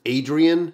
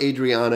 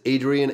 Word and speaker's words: Adrien: is one hero so this is Adrien and that's how I pronounce it and Elise so it's not Adriana it is Adrien and Elise you can